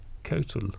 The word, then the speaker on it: Coatl: Coatl? It's Kotul. Yeah, I think that's all it can be.